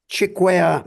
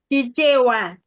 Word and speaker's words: Chichewa: That's in Chikwea language, correct? Chichewa.